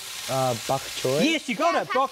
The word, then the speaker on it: bok choy: Bok choy? Yes, you got it. Bok choy, well done. So bok choy, it's spelled bok choy, but I think it's actually pronounced pok choy.